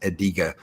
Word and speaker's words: Adega: Oh, and how do you pronounce Adega? I pronounce it Adega, but I've been good lately and been calling him.